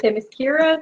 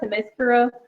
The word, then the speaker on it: Themyscira: Actually, I found several ways to pronounce the name. There you are. Can be Themyscira, Themyscira. Okay.